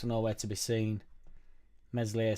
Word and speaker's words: Meslier: Meslier, Silent S just should have just stayed.